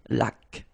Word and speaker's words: laque: Remember the rule when you get this Q-U, well, U is not pronounced, so you get K, like that. Une laque.